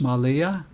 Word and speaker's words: Malia: coast again over to the east this is pronounced malia once again a minoan earns large urns and